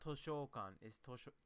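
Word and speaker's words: 図書館: we forget that it's sho not show right so it's not toshokan and that's something i'm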